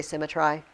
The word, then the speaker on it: symmetry: frame thy fearful symmetry by the way SYM it used to say symmetry so and that makes it rhyme that's the way you pronounce that word Once Upon a Time